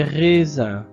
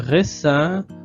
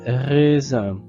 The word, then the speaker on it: raisins: Ce sont des raisins.